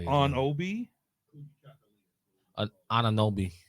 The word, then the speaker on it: Anunoby: Anunoby. Anunoby.